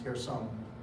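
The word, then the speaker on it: Kherson: k h e r the k is silent it's pronounced here some it's captive it's it's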